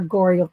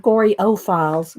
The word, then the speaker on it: Goreyophiles: Based on newly uncovered correspondence and interviews with Goreyophiles as diverse as, and again, names a whole bunch of people that are Goreyophiles, it's not Goryophiles, Goreyophiles.